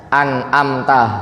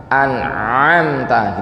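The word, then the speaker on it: أنعمت: supaya beda sama Hamzah karena ada juga yang bacanya anamta Hamzah semua gitu kan jadi supaya menjaga tadi jadi Ain kan ditekan anamta gitu ya sebenarnya itu tidak tepat karena apa Huruf Ain ini makhrajnya di tengah lidah kayak huruf ha a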